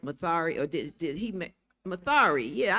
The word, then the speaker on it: Mathare: the judges went to Mathare. I said it right, Mathare, or did he Mathare?